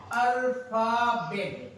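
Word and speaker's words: alphabet: इसका भी साउंड क्या होगा? फा ही होगा, अल्फाबेट, अल्फाबेट क्या होगा?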